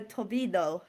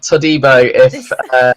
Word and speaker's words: Todibo: Now, we've been practicing off screen with my pronunciation, and I'm going to go Tobino. Have I done it right? No, it's Jean-Claire Todibo. If it's right, it should be that anyway.